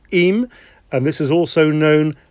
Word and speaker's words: Eyam: little village called eem it's spelt e-m e-y-a-m but it's eem and this is also